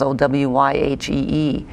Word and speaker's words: Owyhee: Owyhee, they've got a county called Owyhee, but it's spelled differently, the way it sounds, Owyhee.